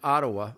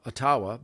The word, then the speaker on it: Ottawa: the truckers up in ottawa otawa based on the ojibwe pronunciation great amer great native